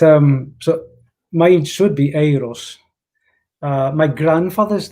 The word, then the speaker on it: Eris: eris lynn and it's the way he pronounced it is aeros yeah um because yes